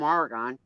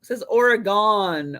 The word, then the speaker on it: Oregon: Kathy, we have a new guy named Jeff from Oregon.